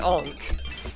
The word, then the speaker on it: Ankh: But if we continue jumping here, we'll actually find an Ankh. Or an Unk, as I think it's actually pronounced. But I've always said Ankh, because that's how it should be.